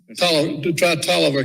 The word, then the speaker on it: Taliaferro: Yeah, I don't know, but you tried Tolliver County. Yeah, that's another one. It's spelled Taliaferro. Yeah.